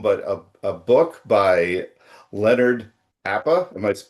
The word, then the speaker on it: Apa: so much film, but a book by Leonard Appa. Am I pronouncing that correct?